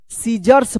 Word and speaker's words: scissors: देखिए यहां पे SCISSORS, क्या पढ़ेंगे इसको? सीजर्स पढ़ेंगे, सीजर्स। यहां पे देखिए सी जो है ना साइलेंट है, क्योंकि एस के जस्ट बाद क्या है? सी है, तो सी क्या होगा? साइलेंट रहेगा, सीजर्स।